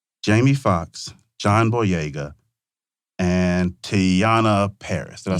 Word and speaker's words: Teyonah Parris: Jamie Foxx, John Boyega, and Teyonah Parris.